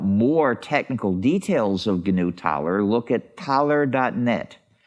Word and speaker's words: Taler: And the idea is that you get your Thaler tokens from some central organization, although there might be more than one.